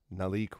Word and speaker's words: Nalik: Nalik with an accent on the I.